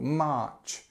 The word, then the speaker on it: March: part is quite difficult March March again long verb and then this CH sound at the end so it's this this sound at the end okay March not the same as most European languages most European language has some kind of similarity but this CH sound at the end is specific to English number four April April